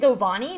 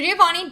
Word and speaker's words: Giovanni: This one's only like $14.96 or something, but they pronounce it Govani? No, that sounds so wrong. What does that mean? Okay. So Giovanni does come down.